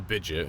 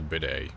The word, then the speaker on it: bidet: Not a bidget, it's a bidet.